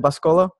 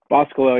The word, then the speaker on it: Boscolo: It's pronounced, is it Boscolo? Boscolo, yeah, either Boscolo?